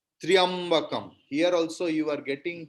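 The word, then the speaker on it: त्र्यम्बकम्: when they chant Om Trayambakam Yajamahe, it's a wrong pronunciation. Triambakam, because half ta, half ra and ya together.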